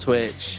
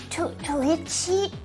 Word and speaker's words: Twitch: And then they can't pronounce the word Twitch either. They always go Twitchy. It's so cute. Oh, it's because they almost, it sounds like an R sound, doesn't it? For W sounds.